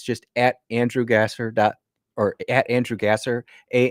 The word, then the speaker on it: Gasser: It's just Andrew or Andrew Gasser. A N D R G- A S E R. I know it's pronounced Gosser, but it's spelled Gasser.